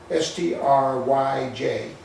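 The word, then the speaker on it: Stryj: It was spelled S-T-R-J-Y, pronounced, I'm sorry, S-T-R-Y-J, pronounced Stry, and I can show you on the map later.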